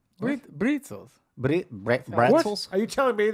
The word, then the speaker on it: Brezel: And they're pronounced with a B. Brezels.